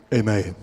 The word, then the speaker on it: Heimaey: Alors votre dernier roman, Aimé, Aimé je prononce bien déjà? Aimé.